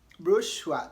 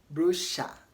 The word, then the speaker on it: brochure: the name Elisha and in American English they pronounce it as brochure brochure to rhyme with Joshua okay to rhyme with